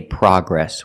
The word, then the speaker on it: progress: In America, we say progress. We don't say progress. The American pronunciation is progress, with the short ah sound, like hot and stop.